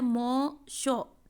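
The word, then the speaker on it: Mme Loisel: है madam and मॉन, हम इसको बोलते थे रॉन्ग मॉन शोर, एक्चुअली ये है मॉ शो, ठीक है, मॉन नहीं है, मॉ शो, लॉयजल्स कंपनी, ये फ्रेंच वर्ड है, इनकी प्रोनाउंसिएशन ऐसी ही है.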